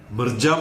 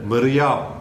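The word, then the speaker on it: Mirjam: പുറപ്പെട്ടു കാണും മിക്കവാറും ഇപ്പോൾ മിർജാം എന്നാണ് നമ്മൾ ഇന്നലെയൊക്കെ പറഞ്ഞുകൊണ്ടിരുന്നത് അത് തെറ്റാണെന്ന് ഡോക്ടർ സുധീർ യുകെയിൽ നിന്ന് എന്നെ അറിയിച്ചു യൂറോപ്യൻ പ്രൊനൗൺസിയേഷൻ അനുസരിച്ച് മെറിയാം മിറിയാം എന്നാണ് ജെ സൈലൻറ് ആണ് അങ്ങനെയായിരിക്കും കറക്റ്റ് ഉച്ചാരണം എന്നാണ് അദ്ദേഹം പറഞ്ഞത് എം എസ്സി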